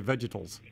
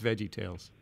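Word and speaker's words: VeggieTales: day the revolution began it's not nice to mispronounce someone else's book title that's really not I never when when people say vegetals I don't like that I said no it's Veggie Tales no one says vegetable vegetals vegetables I don't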